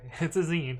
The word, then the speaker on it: zine: How do you pronounce Z-I-N-E? It comes from magazine, right? Zine. Okay, it's a zine, alright.